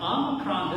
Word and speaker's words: Omicron: But I was told like Omicron like almond. I always remember almond, ah. Omicron, ah. And so like the word